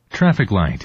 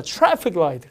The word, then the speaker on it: traffic light: 그래서 발음이 traffic light, 그렇죠. traffic light. 한 번 더 할까요? traffic light, 우리말로 하면 이런 거죠. 신호등 이렇게 신호등. 어쨌든 traffic 앞에 있고요. R 발음 앞에 T는 약간 추 발음을 합니다.